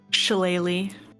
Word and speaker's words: shillelagh: Shillelagh. Yeah. Because that's how that's pronounced.